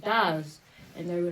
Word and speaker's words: Darz: Darz. Darz Music. Yeah, like it rhymes with the stars. With a D.